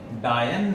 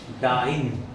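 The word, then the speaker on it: dyne: डायन नहीं डाइन ठीक है और डिस्प्लेसमेंट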